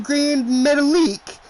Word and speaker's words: Metalik: And finally somebody goes, do you mean Grand Metalik? And she goes, but his name is spelled metallic.